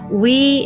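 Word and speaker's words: oui: understand and use correctly we is pronounced like the English word we and non is pronounced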